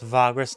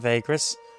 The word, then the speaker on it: Vagrus: that also taught me I've been saying it wrong it's vagus not Vegas but uh you know